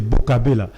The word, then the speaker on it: Bokabela: Et quand tu dis, il faut bien le prononcer, c'est Bokabela. Parce que quand tu dis Bokabela en italien, ça fait une bonne gueule.